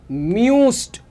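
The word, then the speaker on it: müsst: देखो ध्यान से दू मूस्ट दू मूस्ट इयर म्यूस्ट प्रोनाउंसिएशन करेक्ट करनी है इयर म्यूस्ट क्लार वियर म्यूसिन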